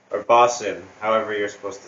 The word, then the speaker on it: boatswain: It's Bosun or Bosson, however you're supposed to say it. Boatswain? It's spelt boatswain, but Yeah.